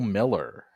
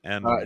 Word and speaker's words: Mueller: This will be a journeyman by the name of Bill Miller. Okay. Is that Miller or is that Mueller? No, it's Mueller.